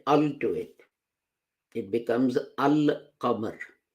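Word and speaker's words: القمر: But if you add al to it, it becomes al-qamar. Al is pronounced, lam is pronounced, and lam of al is pronounced in full, al-qamar.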